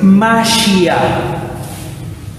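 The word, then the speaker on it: מָשִׁיחַ: La palabra ungido, que no la puse, en hebreo es Mashiach. En hebreo no se escribe así, las letras hebreas son otras, pero es una transliteración. Masía suena muy parecido a Mesías.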